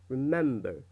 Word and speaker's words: remember: Okay, look at the mark here. It's on the second syllable, right? It's not at the beginning. يعني موجود الشخطة هاي على الام وليست على الار. فإذا the stress أو التشديد في الكلمة هاي راح يكون على second part or the second syllable. So when you read remember, you read it like this: remember, remember, remember.